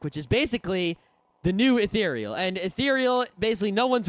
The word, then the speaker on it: Ethereal: so there used to be a program called ethereal not etheral yeah it's I had an argument with a c pronounced ethereal if you pronounce it any other way you're